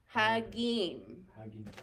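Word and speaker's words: חגים: Hag and im, hagim, hagim.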